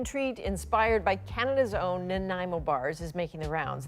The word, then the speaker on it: Nanaimo: Well, next, a very real treat, a human treat inspired by Canada's own Nanaimo bars is making the rounds. There's just one small issue. Listen carefully, everyone. It is Nanaimo. Nanaimo.